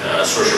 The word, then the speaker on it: Saoirse: That is exactly how you say my name. I'm Saoirse.